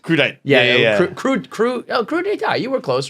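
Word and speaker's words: crudité: You're trying to say crudite? crudite. Yeah. Crudite. You were close, right? It's spelled like crudite. Yeah. But it's crudite.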